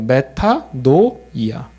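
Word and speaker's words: μετάνοια: 영어 스펠링이랑 비슷하죠. 그대로 읽어나가면 돼요. 메타노이아.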